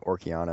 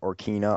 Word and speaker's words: Ocarina: So like for the longest time, I've been mispronouncing Orkiana of Time. I've been like Orkina of Time.